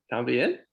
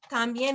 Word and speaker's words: también: So también has an accent mark. So whenever you see an accent mark on a word in Spanish when you're reading, that's where you put the emphasis, también.